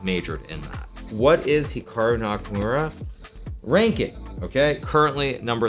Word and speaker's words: Hikaru: Now, even myself, when I pronounce my name, it's definitely more Americanized versus Japanese. Certainly, if I was pronouncing it correctly, it would be more like Hikaru as opposed to Hikaru, but I've spent so